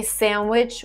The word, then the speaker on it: sandwich: those rules as well the word sandwich if you actually look at the dictionary you would see that there is d in pronunciation of this word but most of the time i hear it people say sandwich without the d and in british they just say sandwich sandwich so i i forgot